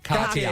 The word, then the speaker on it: Cartier: Cartier.